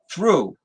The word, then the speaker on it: through: silly because through okay I walked through the doorway all right t-h-r-o-u-g-h well why who in England started asking why are they why are they silent why are they there if there's some because that's how the language evolved like like I threw the baseball the same pronunciation but different spelling t-h-r-e not gonna be a